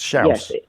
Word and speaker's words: Chaos: It's actually pronounced Schaus. Well, it's not anymore. It's pronounced chaos as far as I'm concerned, but it's spelled chaos. It is literally spelled chaos. There's chaos in Portugal. Schaus. It's pronounced Schaus, like mouse.